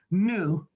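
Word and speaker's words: Hnou: to our operation manager her name is new it's spelled as h-n-o-u miss new song s-i-o-n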